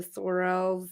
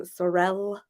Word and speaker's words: Sorel: people pronounce them Sorel some people pronounce them sorell but I always pronounce it like what is it Morel Morale mushrooms right what I did that